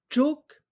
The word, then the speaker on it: chúc: Chok, mừng, chok, mừng, chok, mừng. Donc chok, il s'agit du u sans rien, puisqu'on entend le ou, chok.